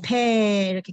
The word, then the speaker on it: פ: 오늘 카프 첫 번째 여기 있는 게 카프 그다음에 여기 밑에 있는 게 페이 이렇게 돼요. 페이 이제 페 이렇게 길게 느리는데 이제 페이 이런 식으로 발음이 나죠.